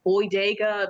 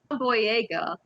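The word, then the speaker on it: Boyega: his last name right cuz I keep saying boy daga but it's boy boy Yaga they try to create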